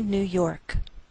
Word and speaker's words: New York: Albany, New York. Note that we treat New York as one word, and we place more stress on the second part, York.